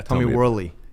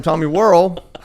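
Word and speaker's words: Worley: Well, number one, he's been my friend for years before he told me how to say his last name. name, right? So, I promoted this book for a solid six months, calling him Tommy Whirl. And he goes, "Well, you got such an accent. I just did I didn't know if you knew and didn't know how to say it."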